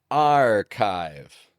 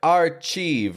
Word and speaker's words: archive: It should be something like archieve, right? Archieve or maybe archive. But that ch doesn't make a ch sound. It actually makes a c sound.